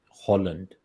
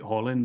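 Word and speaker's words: Haaland: million Euros for um Holland not not Harland Holland but I hope I'm pronouncing it right but um yeah so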